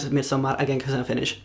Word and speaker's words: Midsommar: to lie to you and also why I pronounce it me so M again cuz I'm finish not cuz I'm pretentious